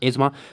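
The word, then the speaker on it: asthma: एजमा, इसको आप pronounce करना, एजमा।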